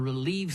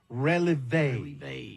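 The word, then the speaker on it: relevé: It was them dancers that performed from the Relieve Studio Dance Group. Oh, no, son, I think it's pronounced releve.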